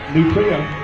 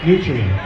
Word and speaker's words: Nutrien: is the ncpa uh nutria is that how you say it correctly nutrient nutrient I knew that nutrient is a major